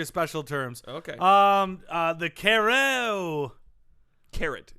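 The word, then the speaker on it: carreau: It's pronounced carrot. Carao. It's a special feat in which the shooter knocks the opponent's bowl out while leaving his bowl very near to the impact. It's pronounced caro.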